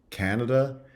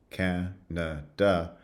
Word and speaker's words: Canada: So we talked about the contrast between Canada, which has a full vowel in the first syllable, and then schwas in the second two, Canada, versus Canadian, where the stress shifts onto the second syllable, and the first syllable now has the schwa, Canadian.